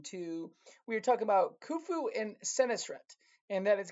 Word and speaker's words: Khufu: It's pronounced kufu. All right. So like with O's. I know it's it's u but it's kind of has that oo sound.